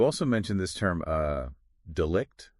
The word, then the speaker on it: delict: mentioned this term uh delict is that is that how you say it yes delict yeah delict and and that's